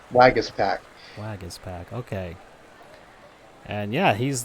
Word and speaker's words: Waguespack: name pronunciation it's Jacob Waguespack Waguespack okay so the UE is pronounced like an e that's a so - swag it is PAC Waguespack Waguespack Waguespack okay and yeah